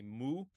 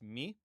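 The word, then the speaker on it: μῦ: In kini pronunciation we generally or in uh in Arasmian pronunciation we generally say moo moo but in modern Greek pronunciation it's mi me that's our m and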